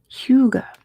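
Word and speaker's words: hygge: the answer is Denmark how to pronounce who Huga Huga says Google Huga Huga okay Huga D are the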